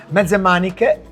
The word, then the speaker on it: mezze maniche: Medanik.